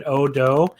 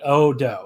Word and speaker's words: Oudou: Japanese maybe than Oudou, because it looks like a word like you pronounce a certain word a certain way in English, and it's not that, like you think you're supposed to say like Ojo or something, but like it's obviously not Japanese.